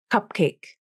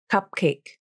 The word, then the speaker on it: cupcake: This happens in a word like cupcake. Native speakers typically hold the P in cupcake. Cupcake. Cupcake. It's not cupcake with a released P, but cupcake.